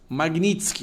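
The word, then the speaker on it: Magnitsky: Magnitsk, ó, ele pronunciou certo, tá gente?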